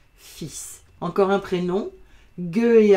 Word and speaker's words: fils: Mais le fils, l'enfant des parents, ça s'écrit F, I, L muet, S, et ça se prononce fils.